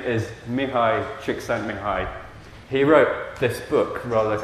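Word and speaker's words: Mihaly Csikszentmihalyi: The correct pronunciation of his name is Mihai Csikszentmihalyi.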